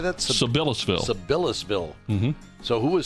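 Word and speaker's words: Sabillasville: Sibyllsville.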